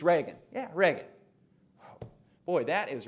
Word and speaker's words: Reagan: he shows him Ronald Rea GaN and the guy walking the dog says oh yeah it's Reagan it's Ronald Reagan Reagan now you're sure it's Reagan it's not Regan it's Reagan yeah Reagan boy that